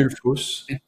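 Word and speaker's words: Gullfoss: les cascades de que j'ai peur de de prononcer gulfos c'est correct gulfos tout à fait ça dans le cercle d'or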